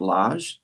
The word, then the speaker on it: Lage: There's a Californian named Julian, I believe it's pronounced Lage, Lage, Julian Lage, who is a jazz guitarist who is incredible and incredibly expressive.